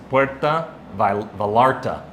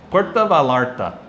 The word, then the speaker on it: Puerto Vallarta: well, I hear Puerto, they take off the O and they switch that for an A, and then Vallarta, they pronounce the L's, so it becomes Puerta Vallarta. Puerto Vallarta.